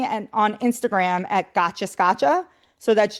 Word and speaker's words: Scaccia: so I'm like Gotcha Scotcha. It's not not one of those fancy Italian last names. It's just hard like Scotcha.